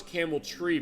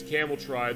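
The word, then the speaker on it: Cameltry: I thought it was Camel Tree, but it is spelled T R Y. It is phonetic apparently in the sense that it is Camel Try.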